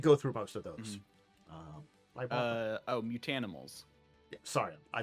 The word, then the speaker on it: Mutanimals: Mutanimals. Yeah, sorry, I said it wrong. You're saying, you said mutimals, but it's mutanimals. Close enough.